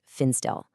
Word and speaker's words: Finstil: That's spelled FF I N S T I L and it's pronounced Finstill.